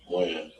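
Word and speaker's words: Wynn: Win. Win or Wen? Win. W-E-N or W-I-N? W-Y-N-N. W-Y-N-N.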